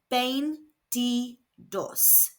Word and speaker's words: veintidós: This is pronounced bane ds. Again, the v is pronounced b and the i's are pronounced e.